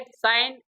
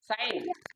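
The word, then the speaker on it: sign: just like it's पे साइन एस आई जी एन साइन जी साइलेंट है इसमें give इस तरह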